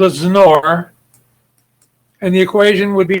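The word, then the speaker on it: XNOR: We write it as that word, which is pronounced snore, like you're going to snore yourself when you're sleeping.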